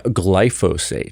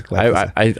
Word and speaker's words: glyphosate: Yeah, glyphosate. Yes. Glyphosate. Yeah, glyphosate. I've been saying it wrong.